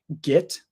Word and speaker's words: get: The way that I naturally pronounce get is git. However, that is less standard. So when I'm teaching, I try to say get, but occasionally I say git.